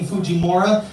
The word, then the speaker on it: Fujimura: I myself am pronouncing my own last name incorrectly. Whatever. It's It's actually pronounced far more Japanese than that. But uh I just say Fujimora cuz anytime my dad hears me say anything remotely Japanese, he's like,